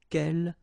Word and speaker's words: quel: So the first thing, the good news is that if you listen carefully, quel, quel, quel, quel, okay, so phonetically you get only one form.